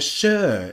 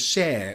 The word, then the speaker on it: Cher: Sher describes their outfits and then details how Ed butchered her name, calling her Shir instead of Sher, which I've done about 12 times in this podcast.